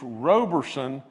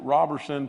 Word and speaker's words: Roberson: Russell, it's Roberson, and I pronounced it Robertson.